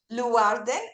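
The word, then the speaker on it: Leeuwarden: arts festival in uh Leen in the ne yeah how do you say it it's Len Warden uh in the Netherlands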